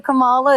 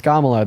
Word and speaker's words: Kamala: after you vote for Cala is that where you're going baby first of all name is Kamala then second of all